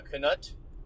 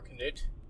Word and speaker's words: Yakima Canutt: So we were talking, of course, about the famous Yakima Canutt, or Canute, depending on how you pronounce it, who's most famous, I think, for doing the stunt in Stagecoach.